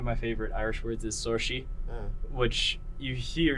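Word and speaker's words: Saoirse: Like, so one of my favorite Irish words is sorshi, which you hear sorshi. How do you think it's spelled?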